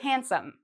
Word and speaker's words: handsome: We say handsome. So it's as if this D isn't there.